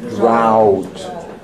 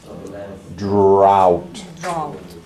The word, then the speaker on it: drought: You know how you say out? Out? You're going to say drought. Drought. That's no, yeah, it's crazy English, right? But you say it like this. Out, drought. Repeat.